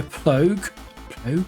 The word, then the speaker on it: Plogue: It is made by Plogue is how you pronounce it, and then it's called Sforzando, and that is all it is.